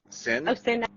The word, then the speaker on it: SYN/ACK: I saying that right sin like like synchronize yeah but are you is tecknowledge okay thank you yeah sy so is synak is part of like